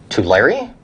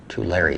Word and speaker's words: Tulare: you've got feeding, and who will pronounce the E on Tulare.